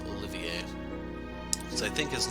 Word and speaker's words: Olivier: the 9th so yeah I'm going to go with the French pronunciation of this Olivier so I think his